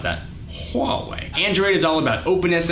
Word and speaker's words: Huawei: by Motorola Samsung LG Huawei that's how you pronounce that Huawei Android is all about openness and I get